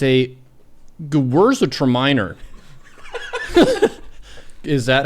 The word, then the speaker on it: Gewürztraminer: It's a Gewürztraminer. Is that how you pronounce that? Gewürztraminer. Gewürztraminer. Gewürztraminer. Gewürztraminer. Gewürztraminer. Gewürztraminer. Gewürztraminer.